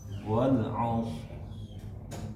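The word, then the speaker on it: والعصر: Wal asr. Sekali lagi, Pak. Wal asr. A-nya tipis dulu. Wal asr. Wal as wal as. Oke. Sh jangan terlalu monyok. Walas enggak dari sh as enggak.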